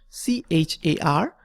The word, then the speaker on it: char: so we can simply write CH AR and you can pronounce it as char or care whatever you write this